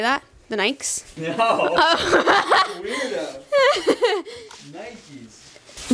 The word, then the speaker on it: Nike: The Nikes? No. Nikes. But N-I-K-E is Nike. That's not Nike. It needs a Y. The E is a long E.